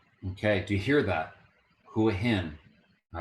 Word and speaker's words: Hua Hin: make this video okay do you hear that who him all right let's try another one Beach okay do you hear the pronunciation now you're gonna get to learn how